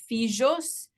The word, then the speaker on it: fijos: In Judeo-Spanish, you have at the beginning of the word, some H's are pronounced as F, Why?